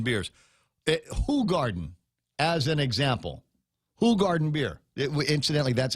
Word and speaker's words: Hoegaarden: Hoegaarden beer. Incidentally, that's how it's pronounced.